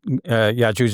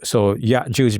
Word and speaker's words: Ya'juj: Yes, and of course you know that our Egyptian brothers and sisters pronounce the Jim of Arabic, which is like a J in English, as a hard G, as in Godfrey, right?